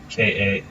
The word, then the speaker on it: Canus: Canus. C-A-N-U-S. Yes. Correct. Canis what? Canis Sylvian. How do you spell that one?